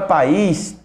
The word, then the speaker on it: país: A palavra país tem como a sílaba mais forte esse is.